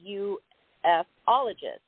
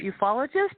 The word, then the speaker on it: ufologist: You are a ufologist. Am I pronouncing that correctly? That's right. Again, some people pronounce it that way, and some people call it ufologist, however you like to say it.